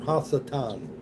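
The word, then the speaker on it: השטן: That's the Hebrew term. Hassatan. That's how you say it in the Hebrew tongue.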